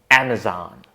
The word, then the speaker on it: Amazon: Amazon. The first sound is A. Just like in apple or cat, this can be a tricky sound for a lot of non-native speakers because it's between A and E.